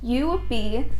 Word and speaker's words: Yoobi: you who aren't familiar with you be pronounced you would be they're an awesome company